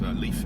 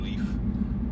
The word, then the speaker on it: Leif: we ended up giving him an equally strong single-syllable name. We called him Jake. I like Jake too. Yeah, me too. Yeah. Leaf is pretty cool.